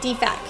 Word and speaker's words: DFAC: was putting sounds like the fax but okay Deepak Deepak not DFACS like we you take your